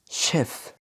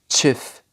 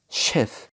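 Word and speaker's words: chef: في بعض الكلمات مش بتمشي على القاعدة ديت وبتتنطق ش زي كلمة شيف. ما قلتش تشيف، بقول شيف.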